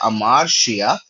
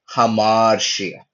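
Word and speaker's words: ἁμαρτία: लेकिन रफ जहां पर लगेगा वहां ह का उच्चारण आएगा। जैसे कि ये शब्द देख के लग रहा है अमारशिया। लेकिन इसमें ये रफ ब्रीथिंग मार्क लगने की वजह से ह उच्चारण आ रहा है और ये बन रहा है हमारशिया।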